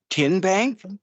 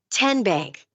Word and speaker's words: TN Bank: How do you say the name? TN Bank. Nope. Tin bank. Uh-uh. So, what is it? Tenbank. 10 as in Tennessee.